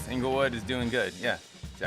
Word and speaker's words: Inglewood: lydon how's life in englewood inglewood's doing good it's um yeah it's angle yeah it rhymes angle word is doing good yeah